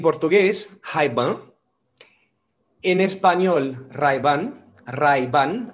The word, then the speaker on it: Ray-Ban: hyde band en español ray-ban ray ban así que pronunciamos la r muy fuerte y la n la